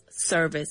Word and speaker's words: service: Yes, service. And that is spelled S E R V I C E Very good. And remember to say V and not B.